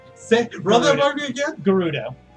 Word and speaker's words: Gerudo: Gerudo. Okay. With hard G. Hard G.